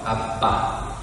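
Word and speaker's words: אבא: 아빠. 이제 우리말의 아빠하고 히브리 아빠, 아람어의 아빠가 같아요. 그 발음이. 겟세마니 동산에서 간절히 기도하실 때도 아빠, 아버지를 부르셨어요.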